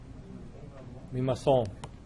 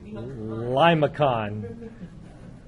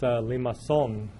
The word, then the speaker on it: limaçon: And this is a French word with a C that goes down underneath. Anybody here speak French? So what's this? How do you say this word? Limaçon. Or if you're American, you say limacon. It's limaçon.